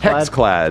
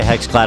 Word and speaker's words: HexClad: Hexclad? Hexclad.